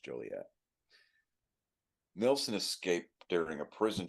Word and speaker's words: Joliet: That's what it's pronounced, Joliet.